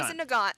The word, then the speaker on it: Mosin Nagant: Mosin Nagant, thank you.